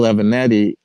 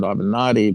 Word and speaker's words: Avenatti: Kelly team, Michael Avenatti, and you guys pronounce it Avenatti, but I don't know.